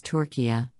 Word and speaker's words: Türkiye: united nations asking to be formally known as torquia in a move which its leadership says will